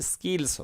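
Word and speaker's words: skills: এর উচ্চারণটা স্কিলস হবে। ঠিক আছে? এ একক জায়গায় এটা উচ্চারণটা খ এর মত হবে না খা সাউন্ড হবে না এটা বাংলা কিছুটা ক এর মত হবে স্কিলস আই ওয়ান্ট টু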